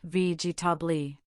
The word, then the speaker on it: vegetable: For example, vegetable has 3 syllables, vegetable.